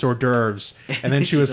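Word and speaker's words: hors d'oeuvres: sausages and he and she said it wrong too cuz it's ordures and then she was like derves or some [ __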